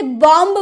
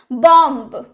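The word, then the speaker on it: bomb: ना एम के बाद अगर बी आए तो, एम के बाद बी आया है तो क्या हम इसे बॉम्ब बोलेंगे? अगर आप नहीं जानते होंगे कि बी इसमें साइलेंट है तो आप क्या बोलिएगा, बॉम्ब। तो बॉम्ब नहीं, बी तो साइलेंट है तो हम क्या बोलेंगे, बॉम्ब, बॉम्ब यानी कि बम।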